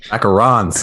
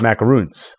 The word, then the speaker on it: macaron: there's that product placement what did you say macarons macarons isn't it macaron it's different than macbook prints we talked about talking it's not okay uh the pronunciation or if they sell them well first how it's spelled and then the pronunciation well i think it's m-a-c-a-r-o-n see uh andrew spelled it with two o's uh oh and that's why i said macaroons yeah macaroni sure are listeners it's macaron by the way there's only